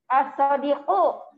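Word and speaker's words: الصديق: Ada alif lamnya enggak di situ? Alif lam ada di depan. Jadi bacanya bagaimana kalau begitu? Al-Sadik. Itu Al-Sadiku. apa itu? Oh iya. Alif lam ketemu itu u ya. Itu namanya apa? Mubtada. As-Sadiqu.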